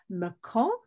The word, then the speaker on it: Mâcon: Mâcon, and again, thank you, Sebastian, for teaching me to pronounce it correctly, is home to vineyards and museums and great historical sites and another great walking city.